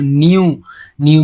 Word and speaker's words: know: আচ্ছা, এখানে উচ্চারণটা দেখো, নোর ক্ষেত্রেও দেখো KN পাশাপাশি থাকার জন্য আমরা কে এর উচ্চারণ করছি না, এন থেকে বলছি নো।